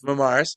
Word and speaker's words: Marmaras: I'm blessed to have the beautiful Marmaras. How do you say your last name? You're right, Mars. Marmaras.